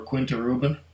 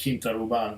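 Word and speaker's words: Quinta Ruban: to move on or Quinta Ruben depending on how you want to pronounce and I like Quinta Obon because it sounds more Spanish or Portuguese I suppose because it's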